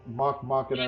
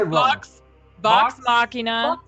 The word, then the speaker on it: Vox Machina: It's like Mox Vacana or Mock Machina. Oh, what the hell? It's Vox Machina.